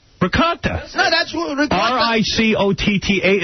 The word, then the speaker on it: ricotta: Oh, the one that Gary calls ragut. Ragut. Ricotta. Ricotta.